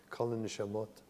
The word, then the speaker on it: Kol HaNeshamot: The same model that I introduced here at Kol HaNeshamot, sorry, did I say it right? Kol HaNeshamot. Is that with a T on the end, is it? It is, right? Yeah, got a T.